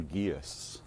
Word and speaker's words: geas: is bound by what we might call a guess it's a the word is spelled g-e-a-s and aguius is often presented in